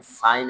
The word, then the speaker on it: sign: In sign and design, G is silent.